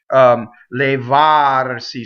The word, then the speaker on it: levarsi: Levarsi, so the accent is on the ah, the stress is on the ah.